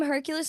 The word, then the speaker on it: Herculyse: I am Hercules on all platforms. The only craziness is the spelling. It's Herculyse. So not spelled like normal Hercules, but Otherwise, L you're Y gonna get S the E.